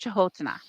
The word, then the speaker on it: Canotina: That's how it's spelled, but it's pronounced Chahotana.